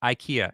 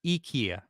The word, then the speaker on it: IKEA: of Ikea Ikea actually it's not pronounced Ikea it's Ikea just to let everyone know a little little Swedish uh Insight it's here all right